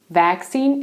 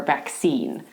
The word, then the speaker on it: vaccine: In British English, they tend to stress the first syllable, vaccine. Vaccine. In American English, I hear more vaccine, so it changes locally.